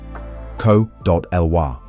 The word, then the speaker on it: Cōlhuah: to the Mexica of Tenochtitlan, excluding Tlatelolco, or Colhua, Nahuatl pronunciation, Co.Lwa, referring to their royal genealogy tying them to Culhuacan.